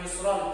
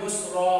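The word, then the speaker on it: يُسْرًا: pengganti seperti yusron, kalimat yusron, kata yusron. Fa inna ma'al usri yusron. Itu teh awalnya yusron sebab ketika dibaca di akhir kalimat itu dibaca dua harokat satu alif. Dibacanya yusra, fa inna ma'al usri yusra.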